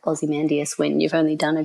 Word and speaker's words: Ozymandias: Ozymandias, right?